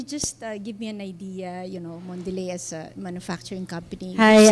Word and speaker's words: Mondelez: Actually, that's how you pronounce. It's Mondelez. It means delicious world, okay, in French.